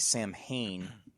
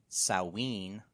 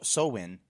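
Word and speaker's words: Samhain: Gaelic dialects include uh saen which is interesting because of Halloween right right yeah yeah and um there's also um shavin as one um then there's sain so sowin like glow yeah in good show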